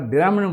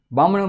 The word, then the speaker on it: ब्राह्मण: अब ब्राह्मण को अगर आप ब्राह्मण बोल दोगे, बामण बोल दोगे, तो बामण से वर्ष नहीं निकलेगा, ब्राह्मण से वर्ष नहीं निकलेगा, ब्राह्मण से वर्ष नहीं निकलेगा।